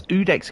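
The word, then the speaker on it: Iudex: So, the coiled sword, it's Udex Gander. And the eye is silent.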